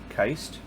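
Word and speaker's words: Kiste: In at number 7, Gwendoline Heist, and it is pronounced Keist.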